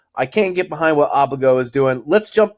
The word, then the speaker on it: Obligo: to know how to say it but it's pronounced obliga the new standard for security deposits zero locked